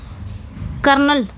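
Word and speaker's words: colonel: next पे आ जाएंगे correct spelling कॉलोनल है ना कर्नल जिसको हम हिंदी में इस तरह बोल सकते हैं इस तरह कर्नल लेकिन आर लिखा नहीं जाता है भले बोला जाता है आर इसमें जो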